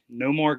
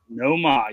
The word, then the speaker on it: Nomar: Uh, Nomar Garciaparra. Noma. Nomar, you got to say it like that.